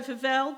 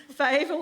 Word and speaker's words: Favel: okay uh so favel um is here with us did i pronounce that question fable i've asked it seven times and i still got it wrong fable is here um and she i feel as